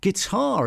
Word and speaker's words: guitar: T's little spoken about guitar interestingly uh a very interesting one get guar now I would always pronounce the T there get get you G